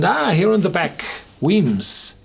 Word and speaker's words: Wemyss: hear in the back whims it's easier to say than to read w m y SS you pronounce it whims which is the Scots word for caves as in the caves